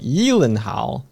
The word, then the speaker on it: Gyllenhaal: like, "So your surname, that's a Swedish name, right?" And and Jake's like, "Yeah, yeah. So wouldn't it be pronounced like Yelenhal?" I'm not doing it very well. where he does a very pronounced um he like heal um and uh Jake's like yes there's only two places in the world that my my name is pronounced correctly Sweden and IKEA.